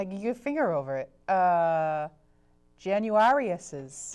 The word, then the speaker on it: Januarius: can't see I you finger over it uh januarius is J januarius yep the pat January after